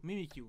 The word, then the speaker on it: Mimikyu: Mimikyu.